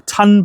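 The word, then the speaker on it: tonne: So, a ton of logs, a ton bag of logs, that's t o double n e, I think you pronounce it ton.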